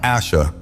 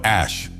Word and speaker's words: Ashe: Không phải "Assha" mà là "Ashe!"